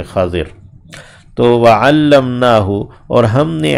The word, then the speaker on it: خضر: بھی کہہ دیتے ہیں، ویسے عربی میں تلفظ خا کے اوپر زبر ہے، ضاد کے نیچے زیر ہے، خضر۔ تو وعلمناہ اور ہم